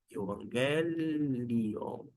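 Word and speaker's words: εὐαγγέλιον: ó euangelion tá bom euangelion euangelion é a pronúncia é uma questão mais de ufia Mas é uma é uma nuance dentro do perigo coin na pronúncia chamada erasmiana a qual nós adotamos com uma ligeira adaptação Vamos então pronunciar ao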